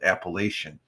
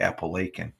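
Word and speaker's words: Apalachin: They say they talk about Italian, but they pronounce it Appalachian, but it's actually Appalachian, New York, the name for fame.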